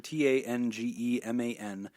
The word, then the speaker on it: Tangeman: It's at Nick_Tangeman, TANGEMAN. Tangeman is how you pronounce that.